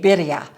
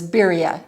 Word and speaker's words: birria: tacos that is my attempt at rolling the double RS it's b i r r I a biria and that's rolling the RS if you are americanizing it it is bira the first Sy syllable is beer bira bira um and